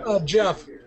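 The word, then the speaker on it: Geoff: Jeff.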